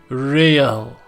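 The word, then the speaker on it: réal: you owe me 130 real he pronounces the are with a mock aristocratic accent encyclopedia the iír or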